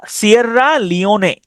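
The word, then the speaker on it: Sierra Leone: তাহলে সিয়রা সিয়াররা লিওনে।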